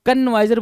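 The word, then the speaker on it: connoisseur: अब ये स्पेलिंग में एरर कई बार आ चुका है, कन्वाइजर की स्पेलिंग में एरर कई बार आ चुका है, CONN, CON, कन्वाइजर, NOISSEUR, कन्वाइजर।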